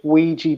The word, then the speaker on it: Ouija: Teen girls mess with an Ouija board and summon a shark. I had trouble pronouncing that, but I think I got away with it.